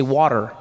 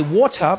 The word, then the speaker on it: water: In American, you say water, right? Water, yeah. I say water because there's a T in the word, right?